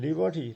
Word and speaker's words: liberty: And liberty, liberty, liberty, three syllables, and first is stressed.